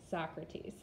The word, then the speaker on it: Socrates: which we could call this the grandfather is Socrates his name is spelled like so grapes but we pronounce it Socrates now Socrates had a teaching method that involved